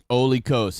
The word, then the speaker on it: Olikos: Olikos. He just said it right there. It sounds like Holy Ghost.